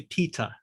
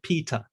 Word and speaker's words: Peter: name all right so i say peter right i pronounce my t very clearly i don't pronounce the r at the end uh if there's nothing else follow it following it i just say peter uh i quite often get people calling me peta all right so that